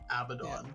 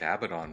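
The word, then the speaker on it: Abaddon: and that uh Games Workshop has clarified it is abdon did you see there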